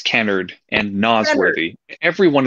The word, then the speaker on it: Kennard: It's Kennard and Nosworthy.